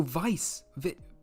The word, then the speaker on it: Widge: Oh, Vice, Vice. Oh my God, that's so much easier. Thank you. Vice says it's pronounced Vice.